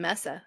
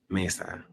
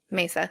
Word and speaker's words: Mesa: So yeah, and uh I think she was I think she was murdered by an ex-husband in Arizona in Messa. I think Mesa. Mesa.